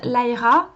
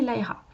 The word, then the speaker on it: Lyra: Ceux qui le prononcent Lyra ont raison dans le sens où c'est comme ça que le prénom est censé se prononcer. C'est un prénom anglo-saxon, donc le Y se prononce de cette façon-là, donc en toute logique on devrait prononcer Lyra.